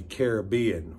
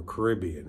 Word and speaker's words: Caribbean: Ireland, Wales, England, Scotland, the Caribbean or Caribbean, however you like to pronounce it.